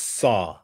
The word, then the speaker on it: XOB: it yeah xob so it's actually pronounced saw like s like s-a-w I guess is the